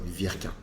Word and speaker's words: Wirquin: Euh il y a toutes les prononciations euh VK, c'est un V. W du nord de la France se prononce.